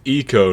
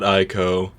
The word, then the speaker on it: Ico: I was totally unprepared for that, but it's eco, not ico. Yes, that is a commonly mispronounced game.